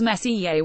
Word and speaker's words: Messier: including nebulae galaxies and star clusters Charles Messier pronounced more or less Charles Messier was a French astronomer in the 18th century